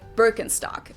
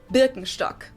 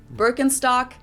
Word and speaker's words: Birkenstock: the world nowadays, and it's natural that people pronounce it with their native accent. So English speakers usually say Birkenstock. In German we say Birkenstock. Birkenstock.